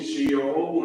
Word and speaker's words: Sheol: found in translations one it gives you the pronunciation sheol and then it gives you the hebrew spelling